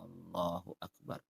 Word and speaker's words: Allahu Akbar: Dia panjangkan hamzanya. Allahu Akbar. Kalau dipanjangkan hamzanya, berarti itu maknanya apakah Allah Maha Besar?